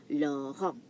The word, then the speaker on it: Laurent: Now, Laurent, the T here is silent. Now, in English, Laurent is Lauren. But in French, en, when E, the letter E meets N, it becomes on. That's why you have Laurent.